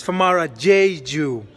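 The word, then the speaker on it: Famara Diedhiou: It's Famara Diadu.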